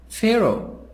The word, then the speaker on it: Pharaoh: and o very young Pharaoh Pharaoh H silent pH and F as fat sound Pharaoh king of ancient